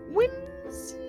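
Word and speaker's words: Whimsiphae: what the lore says whims that's how it's pronounced but with w-h-i-m-s-i-p-h-a-e wins faye well cool i i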